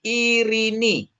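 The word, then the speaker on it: Ειρήνη: Jadi irini, irini ini epsilon ketemu yota bacanya iini ini kan ee apa namanya? Ita. Ita. Jadi bacanya irini ya.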